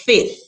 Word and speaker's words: fifth: there but this says while some people don't do in fact pronounce the second f in fifth fifth some of us do that the first pronunciation given in our dictionary is the one that omits it so it's fifth fifth overall however f is